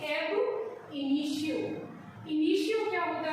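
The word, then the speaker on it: ab initio: पर ध्यान दें कि इसे हम बोलते हैं एब इनिशियो।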